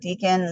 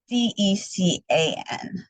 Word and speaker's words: Decan: And I'm going to call it Deacon, like, it sounds like I'm saying Decon because I know my pronunciation, but it's Decan 6.